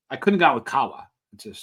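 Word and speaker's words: قهوة: of coffee was Arabic the Arabic word Kawa which is spelled q a w a Kawa that's what it sounds like uh which actually referred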